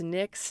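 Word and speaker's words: Knix: like that going towards NYX now one thing that I love about NYX and Nyx is spelled KN ni iix I'll put all these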